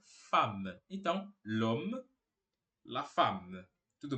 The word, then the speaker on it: femme: La Femme La Femme você vai perceber que tá escrito fem mas a gente não pronuncia esse e a gente fala fam então Lom la fam